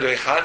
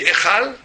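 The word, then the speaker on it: היכל: Mais il dit Echal, il dit une chose extraordinaire, il dit Echal, il y a un E qu'on prononce mais qui ne s'écrit pas, qui est caché, un Yud.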